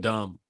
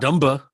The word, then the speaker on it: dumb: Where is the B when you pronounce it? So dumb. Who's really the dumb ones here? Dumba. It ain't pronounced Dumba. Have you ever said Dumba in your life? No. Dumb. Numb.